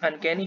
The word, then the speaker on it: uncanny: Okay, so here's our first word, that is uncanny. Here are three syllables. Uncanny is the stress level one, that is called primary syllable.